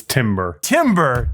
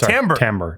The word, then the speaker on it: timbre: It's timber. Timber. Or no, sorry. Timbre. Timbre. It's timbre.